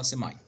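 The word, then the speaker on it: semi: فمثلا سيماي كونشس، الناس تلفظها سيمي وفي ناس تلفظها سيماي.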